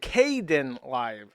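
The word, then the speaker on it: Kdenlive: Uh KDE uh li Kad Kaden live is how you pronounce it.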